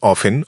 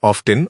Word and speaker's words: often: কেউ বলবেন অফেন অফেন, কেউ বলবেন অফটেন অফটেন। আগে এটি ছিল অফেন, তারপর এটি অফটেন হল।